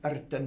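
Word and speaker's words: Rtanj: And when I got to the top of Erten mountain, I have to say it like that because that's how you say it.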